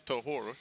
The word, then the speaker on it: Tahor: It is Tahor. Yeah, I was joking. I was like, us Americans would call him Tojor.